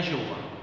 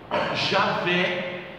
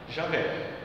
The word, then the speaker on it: Javé: Não é Jeová. Javé é o mais próximo que se pode pronunciar. Javé.